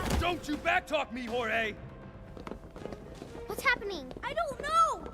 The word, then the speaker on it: Jorge: I can't do this my name's pronounced George don't you back talk me Jorge what's happening I don't